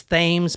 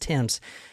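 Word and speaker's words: Thames: a lot of people would think it was themes but it's actually spelled Tims are pronounced Tims how is she and she's the one there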